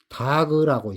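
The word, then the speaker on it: דג: 물고기 다그라고 있습니다. 다그. 다그. 다그. 다그라고 읽어요. 음.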